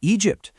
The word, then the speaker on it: Egypt: Just look at the word Egypt. The GY gives us that classic soft J sound.